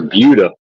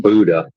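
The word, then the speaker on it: Buda: We're near Buuda. B U D A but they pronounce it, not Buddha.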